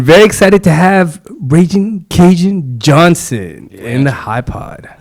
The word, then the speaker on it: Kajan: Kajan.